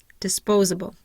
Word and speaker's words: disposable: have four syllables um my primary stress is going to be on the second syllable I have no secondary stress and I have awah in my third syllable and in my last syllable dis disposable disposable then I have Supernatural